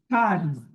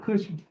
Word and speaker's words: Cashman: Cashman. Cashman, okay. I said Cushman.